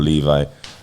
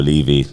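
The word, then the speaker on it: General Levy: But listening to those, you know, remembering people significantly like General Levi or Levy, depending on how you want to pronounce it, and you know, many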